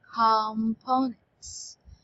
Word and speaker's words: components: Okay, so we have the stress in com. Okay, components. Okay, not components.